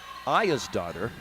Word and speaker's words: Aegisdottir: That's Elizabeth Aya's daughter. It's spelled Aegisdottir.